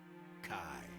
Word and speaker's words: Chi: Kai. X. Chi. Pronounced Kai.